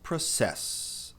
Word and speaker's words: process: Mas a pronúncia não é process, é process. Note que tem um F depois do P. Ele tá aí para indicar que tem um puff de ar aí. Ou seja, não é process, é process. Tem ar saindo. Process. E eu também colocar, coloquei um a depois do o que tem um leve a pro e não pro. Percebeu? Process e não process.